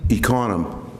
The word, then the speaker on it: Econom: Econom. How do you spell it for the record? E-C-O-N-O-M. Okay, thank you. Like economy without the Y.